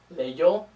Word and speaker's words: leyó: This only affects the spelling, and they're pronounced the same way. They're still pronounced leyó and leyeron.